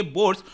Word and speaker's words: Bourse: है सूरत डायमंड बर्स इसको प्रोनाउंस करेंगे बर्स और बोर्ड्स बेसिकली क्या